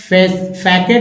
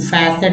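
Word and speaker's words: facet: Next word है फैकेट भी बोलेंगे और लोग फैसेट भी बोलेंगे। फैसेट भी, जो आपको लगे, दोनों तरह से उच्चारण होगा, ठीक है।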